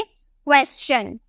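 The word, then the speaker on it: question: देखने को मिल रहा एस के बाद टी आई ओ एन देखने को मिलेगा तो यहां पर हम च में प्रोनाउंस करेंगे हम इसे क्या बोलेंगे क्वेश्चन क्या क्वेश्चन जितने भी मैं आपको अल्फाबेट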